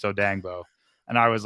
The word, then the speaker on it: Odeyingbo: Because I was saying Dio Dangbo's name wrong for like the whole year, his whole rookie year. I was saying Odeyingbo, and it's Odangbo.